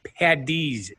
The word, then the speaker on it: Paddy's: Patrick LT yes but the real way to say it is st. Patty's Day with DS and the reason for that is the Irish spelling of a name Patrick is spelled PA d ra IG so it's Paddy's Day huh dragon positive positive